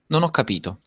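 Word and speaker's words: non ho capito: is so cool she nono capito great unnoticed did you hear when Mateo said that then that the H is silent so the Italians don't pronounce the H is just a letter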